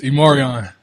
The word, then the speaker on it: E'Marion: It's Imarion.